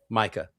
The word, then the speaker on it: Micah: of the apostles to say, is it pronounced Micah or Mikah? Micah.